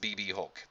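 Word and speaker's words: BxB Hulk: Alex Shelley BB Hulk ignore the ex if you look here or take the time to read it it's pronounced BB Hulk C pronounced as BB Hulk BB Hulk who I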